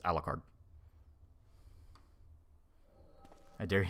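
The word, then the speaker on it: Alucard: is Japanese though yeah but it's alard you're supposed to pronounce it as alard I dare you name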